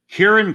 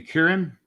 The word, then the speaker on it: Kieran: ended and Shane plug your screen thanks Shane Kieran Clark am I pronouncing that right is it Kieran yeah I believe that's right yeah thanks k